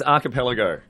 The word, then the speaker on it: Archipelago: It's Archipelago.